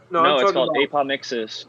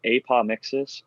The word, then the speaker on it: apomixis: apomixis, Eagle.